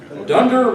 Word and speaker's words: Dunder Mifflin: the fictitious paper company Dunder Mifflin that's funny dunder it kind of rhymes with under Mifflin well myth is